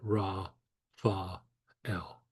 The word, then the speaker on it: Raphael: So Raphael would be Ra, Fa, El. Now this is short and kind of rapid, but you have a little bit of a gap between each syllable.